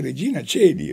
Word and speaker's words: Regina Coeli: vita vita vite vite perché il ditongo a e nella lingua latina si diceva e per esempio a Roma c'è il carcere di Regina Coeli Coeli c'è scritto Regina Coeli ma non si dice regina si dice Regina cieli Regina cieli è così